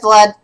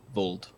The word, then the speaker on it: Vold: It's pronounced as the second letter is an O, so Vold.